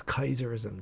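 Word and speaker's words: Caesarism: in the u.s uh kaiserism uh interesting everyone says caesar for kaiser but i actually pronounce it in latin the actual pronunciation of c-a-e-s-a-r-i-s-m is kaiserism just like the german kaiser it's actually the same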